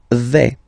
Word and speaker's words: vais: The first form is je vais. Okay, so remember, final S not pronounced here. Je vais. Okay, when you combine this A, I, you get the sound E, really open.